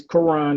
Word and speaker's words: Karon: It's Karon, not Karon. Karon, what I say? You sounded like these country bumpkin white folks trying to say my name, but it's all good. It's Karon.